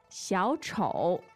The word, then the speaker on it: 小丑: 小丑. The tones are? Two third tones. Mm. Third and third.